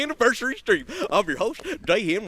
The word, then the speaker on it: Jayhem: I'm your host, Jayhem, rhymes with Bayhem, Executive Director of Counterintelligence